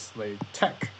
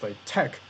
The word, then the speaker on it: LaTeX: mathematical text happens to be latex which is pronounced as Slade Tech I would in fact highly encourage you to use like Tech as the main pronunciation just so you don't